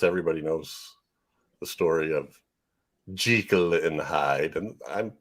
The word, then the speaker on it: Jekyll: I'm saying Jekyll because his mama named him Jekyll. That's what I'm going to call him. One of the pieces of trivia said this was the only movie where they pronounce it correctly.